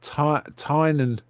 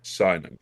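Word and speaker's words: Sinon: And they've left Tinan, I think that's how you say it. Simon.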